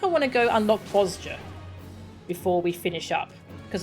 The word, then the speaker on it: Bozja: Bozja. Kugane. Yeah, let's go. Let's go unlock that. Alright, that starts over here. Hail to the Queen. Teleport. The J is like a Y.